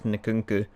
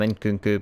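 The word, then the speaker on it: Nkunku: pronounce his name properly I think it's nakunku I've been calling him in Kuku but I could be completely wrong I've got Danny omo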